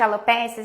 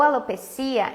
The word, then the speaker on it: alopecia: Ingrid, quando a gente fala de alopécias, a gente fala, gente, o termo alopécia ou alopecia é a pronúncia, é a mesma coisa, tá?